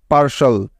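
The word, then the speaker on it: partial: পেরেছ মনে থাকবে তো তাহলে এই শব্দটির সঠিক উচ্চারণটি কি পেলাম আমরা আমরা পি এ আর পার এবং টি আই এল শাল পার্শাল পার্শাল পার্শাল অর্থ হলো আংশিক বা অসম্পূর্ণ বোঝা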